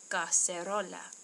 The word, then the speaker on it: cacerola: Okay, so in Spanish this uses one hard C, ca, and one soft C, se, cacerola.